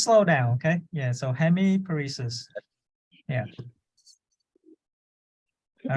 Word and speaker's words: hemiparesis: so Hemi please yeah give it a try hemiparesis good yeah perfect yeah just slow down okay yeah so hemiparesis yeah all right let's go for the next